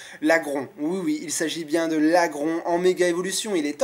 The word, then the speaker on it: Laggron: jour, il s'agit de l'Agron, ou l'Agron. Moi j'aimais bien dire l'Agron avant, normalement c'est l'Agron hein, si on prononce bien.